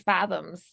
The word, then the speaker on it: Faethom: lot of fathoms, a Yeah, lot.